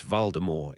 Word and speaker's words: Voldemort: Oh, and it's Voldemort. It's French.